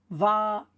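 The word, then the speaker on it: ויאמר: Remembering again, when I put it in white, it's not even pronounced. So then we read it. Va-yo-mer.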